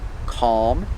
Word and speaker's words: calm: so with words like calm and almond these words have alm but the l is silent or you don't hear it like i said the